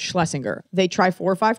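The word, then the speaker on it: Shlesinger: do you say last name I say it's Schlesinger they try four or five times they say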